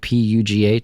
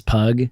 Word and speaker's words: Pugh: Yeah, well, people always mispronounce my name as Pug, which, easy mistake.